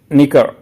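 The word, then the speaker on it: knickers: है ये सही है निकर जो पहनते हैं के एन आई सी के ई आर ई एस निकर्स के आगे लगेगा मतलब के साइलेंट है इसमें लेबिंथ लेबेंथ होता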